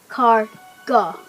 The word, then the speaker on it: escargot: are popular french delicacy known as escargot pronounced as car go don't eat raw snails